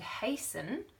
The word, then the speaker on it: hasten: so if someone said hasten you might be forgiven for forgetting the T but if you remember that it's based in the word haste which just means efficiently fast you can hear t solemn means it's very